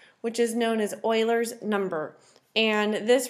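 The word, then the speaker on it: Euler: the natural base e which is known as Oiler number and this right here that is pronounced as Oiler so it almost looks like it should be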